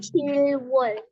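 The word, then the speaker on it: 칠월: Kemudian Juli dibacanya? Cilwol. Cirwol. Cilwol.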